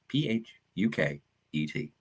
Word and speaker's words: Phuket: And I would be like, so how long are you going to be in Phuket? Because that's phonetically how it's spelled.